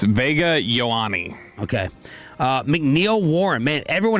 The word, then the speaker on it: Vega Ioane: It's Vega Ioane.